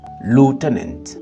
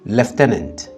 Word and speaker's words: lieutenant: Pour dire lieutenant en anglais, lieutenant pour les Américains, lieutenant pour les Britanniques.